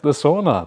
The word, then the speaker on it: sauna: Sauna. That's how you say it in Finnish, sauna.